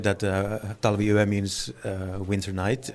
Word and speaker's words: Talviyö: So how do you pronounce it? Talviyö. Talviyö.